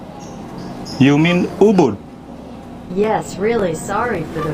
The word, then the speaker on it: Ubud: to show you a really cool place in eubank you mean ubud yes really sorry for the wrong pronunciation that's cool but how's the weather the